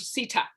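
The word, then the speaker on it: CATHSSETA: cultural um and tourism and and and troubled sita yes yeah thank you so much as well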